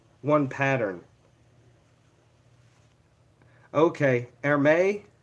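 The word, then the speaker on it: Hermès: a horse but the ermes ties they all have like one pattern okay air may ermes says the H is silent so yes I don't know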